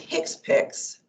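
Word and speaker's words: HCPCS: will be using CPT the hcpc is pronounced Hicks picks and Revenue um so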